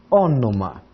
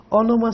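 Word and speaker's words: ὄνομα: O, um N, que parece o V, mas é o N, outro ômicron, um Mi e o alfa. Ônoma. Ônoma significa nome. E ônoma, por exemplo, dá origem ao pronome, aquilo que substitui o nome.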